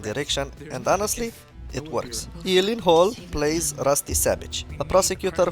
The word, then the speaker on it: Gyllenhaal: The only two places that that is pronounced correctly, my last name like you did just now, is in Sweden and in IKEA.